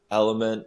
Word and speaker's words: LMNT: I will say that Yeah, you guys might have to finish this one without me, but just real quick, so Element is spelled LMNT for that brand.